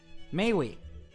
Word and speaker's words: mais oui: Mais oui. Mais oui. Oh yeah, mais like parler aimer, mais oui.